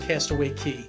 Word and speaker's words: Castaway Cay: seeing the Private Island Castaway key it's spelled Castaway K but but quickly I started to hear everybody say Cast Away key take a look at